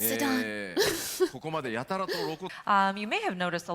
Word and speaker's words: Zidane: It's pronounced Zidane.